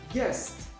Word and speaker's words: guest: Guest. U is not pronounced here.